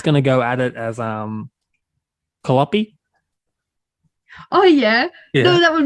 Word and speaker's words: Kaliopi: No, Kali is indeed my name. But then Kaliopi is just how you pronounce that one.